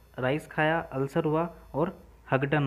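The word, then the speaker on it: Houghton: खाया, अल्सर हुआ और हगडन हो गया, ठीक है। इसकी स्पेलिंग आप देखोगे तो ये आपको हगडन पढ़ने में आएगा, HOUGH TON, हगडन।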